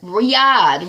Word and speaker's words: Riyadh: female ambassador to write a riot uh right Riyadh Riyadh that's how you pronounce it Riyadh Dena Malay under fire for